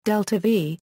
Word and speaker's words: delta-v: delta-v, symbolized as IV and pronounced delta-v, as used in spacecraft